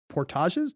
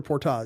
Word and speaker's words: portage: carry canoes over uh portages do we say Portage or Portage in this case I think Portage you can't go wrong with the French pronunciation when you're talking about these when you're talking about